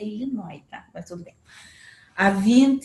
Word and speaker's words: Illinois: número variável desde 10 no illinois e nóis é aí nós mas se pronuncia illinois mas também a 20